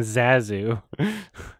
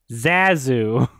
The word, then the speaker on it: Zazu: only two people that pronounced the name right and everybody else who whose introduction to the lion king was john favreau pronounces the name wrong suspicious zazu zazu not you know it's supposed to be zazu and then that roar